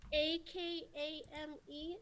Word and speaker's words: Akame: A-K-A-M-E? Akame, right? Yeah, Akame. I haven't watched that anime in a long time. Akame.